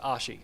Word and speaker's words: Oshie: I found out it's pronounced Ashi. Ashi.